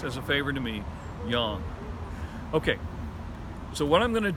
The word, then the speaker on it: yang: Oh, and by the way, it is pronounced yang, not yang. There is no ang sound in Mandarin Chinese. So please, as a favor to me, yang.